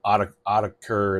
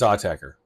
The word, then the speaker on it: Autechre: right now it is called inun AA from AER by the way that's how you say their name it's not a it's not AER it's not AAE it's AER and why do I say this because the